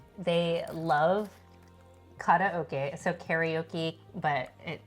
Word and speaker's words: karaoke: So, karaoke, but it correct pronunciation is karaoke.